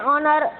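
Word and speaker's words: honour: से एन लगा है, एन ऑनर, एच साइलेंट है, ऑनर लगेगा, राइट।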